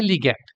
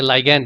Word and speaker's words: ligand: সঙ্গে, তাদেরকে বলা হয় লিগ্যান্ড, বা কেউ কেউ এটাকে প্রোনাউন্স করে থাকে লাইগ্যান্ড বলে।